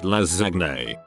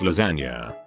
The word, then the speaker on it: lasagna: I would intentionally mispronounce lasagna all the time in front of my brother, pronouncing it lasagne. He'd correct me every time, then eventually gave up. Then one day he says, "Want lasagne for lunch?" To which I reply, "It's pronounced lasagna."